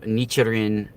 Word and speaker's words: Nichiren: This is how Nichiren is spelled.